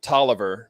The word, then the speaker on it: Taliaferro: So there's a county in Georgia called Taliaferro, although some people around here pronounce it Tolliver, but I don't know.